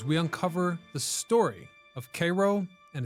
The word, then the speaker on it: Cairo: they called it Cairo, which I've been told locals pronounce as Cairo.